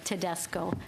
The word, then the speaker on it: Tedesco: You pronounce it as you see it, as it is spelled, Tedesco.